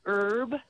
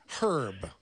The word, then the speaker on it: herb: our a word like herb that starts with a consonant herb herb you still say an er because most people don't pronounce the a because the h is silent like the p in